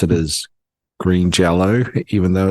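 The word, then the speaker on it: Green Jellö: the Y and he says that means you pronounce it as Green Jello even though it's pronounced written as green jelly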